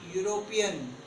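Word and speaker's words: European: Then she इज अ यूरोपियन, यूरोपियन country को belong करती है और यू य साउंड आ रहा है तो अ यूरोपियन।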